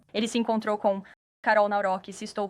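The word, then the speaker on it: Nawrocki: Ele se encontrou com Carol Naurque, se estou pronunciando corretamente. Navroque. Sim, Navrock.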